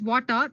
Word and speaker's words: Watir: Then we have Water. WATIR, basically, it's pronounced as Water, is an open source testing tool made up of Ruby libraries to automate web application testing.